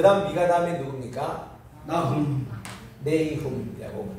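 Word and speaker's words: Nahum: 네이훔이라고 그래요. 의와 인과 신. 네움의 H 요거는 없을 수 있습니다. 따라합시다. 나훔. 두 가지 발음 다 가능해요.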